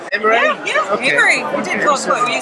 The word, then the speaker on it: Amery: Amery, did I pronounce it correctly? Amery? Yeah, okay. Amery.